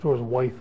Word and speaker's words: Wythe: He pronounces it Wythe, but it's spelled Wythe. There's an E on the end, W-Y-T-H-E. So I'm going to stick with Wythe.